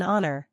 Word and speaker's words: honor: yang samar atau sililent We also use and before words that begin with a silent h for example an honor an honest man an hour Let's compare a n